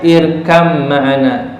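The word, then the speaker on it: ارْكَبْ مَعَنَا: Jadi contohnya irkab ma'ana. Jadi bacanya irkam ma'ana. Karena ba dengan mim itu adalah apa? Sama makhrajnya, beda sifatnya.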